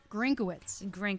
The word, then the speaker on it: Grinkawitz: let's talk about the pronunciation of your last name. Grinkawitz. Grinkawitz. You have a lot of extraneous letters in your last name to get Grinkawitz.